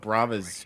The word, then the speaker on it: Brava: Yeah, I am saying it right, Korvik? Yeah, I believe you are. Brava is correct.